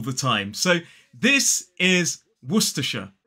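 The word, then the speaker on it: Worcestershire: so this is werer three syllables the stress falls on that first syllable so it's w w then T and aw wer which is actually the name of a city in the UK and then that last syllable is sh wera it is not warshire or worshire it is werer now if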